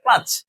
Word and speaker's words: clutch: তো আমরা যখন বলি ক্লাস ধর, এটা কিন্তু একটা ভুল উচ্চারণ বলতেছি। এটা ক্লাস হবে না, এটা কি হবে? ক্লাচ।